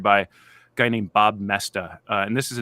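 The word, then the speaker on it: Moesta: it's it it's m-o-e-s-t-a it's actually not hard to spell but the spelling doesn't look like the pronunciation Bob messed up on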